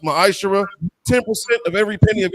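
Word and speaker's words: מעשר: Means 10th in the Hebrew, it's pronounced ma'ashara.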